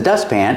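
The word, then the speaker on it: dustpan: this is a broom what about the letter T in dust ban when you have a t between consonants and you link The Sounds you don't really hear the tea you just hear dust pan the tongue goes up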